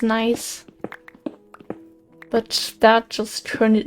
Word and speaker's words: gneiss: Back when I didn't know how to pronounce nice.